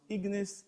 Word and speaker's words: ignis: what exactly are ignored ignis comes from a Latin origin it is pronounced ignis in Latin and it simply means